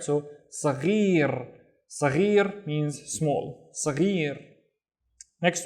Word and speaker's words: صغير: So the gha is the gargling sound, ghi, and then rrr with the tongue rolling, right? So صغير, صغير means small, صغير.